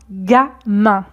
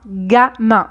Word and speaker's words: gamin: Première version, un gamin. Un gamin. Donc ici, G plus A se prononce ga.